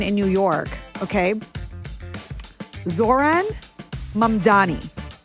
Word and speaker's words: Mamdani: A lot of people are mixing up the M and the N in his name, and so they're saying Mandami Oh, no. instead of Mamdani. Mamdani is the right way to say it, okay?